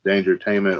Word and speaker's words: Dangertainment: to be into this Dangertainment online web show. Pretty You cool. didn't say it Something you've right. never seen. You gotta say it like Buster Rhymes.